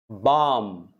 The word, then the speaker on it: balm: Balm, balm. L is silent.